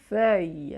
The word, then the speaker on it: feuille: le voit par exemple dans le mot une feuille une feuille alors attention une feuille c'est intéressant